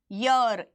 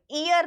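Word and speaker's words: year: लिख रही हूं देखो इसको बोलते हैं ईयर क्या बोलते हैं यर ईयर नहीं बोलते ईयर ये है इसको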